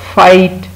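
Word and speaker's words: fight: फिर है फाइट, फाइट में भी जी एच लिखने में है लेकिन बोलने में नहीं है, अच्छे बच्चे फाइट नहीं करते।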